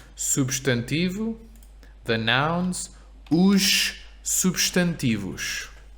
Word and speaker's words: substantivo: And now we also know why this S in substantivo is sh, right? Because substantivo has 4 syllables. Substantivo. First S is at the beginning of a syllable, su. Second S is at the end of the first syllable, substantivo. Substantivo. So always if the S is at the end of the first syllable, it's a sh.